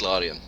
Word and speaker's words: Larian: I was specifically not pronouncing it that way because I didn't think so, but yeah, so it is Larian.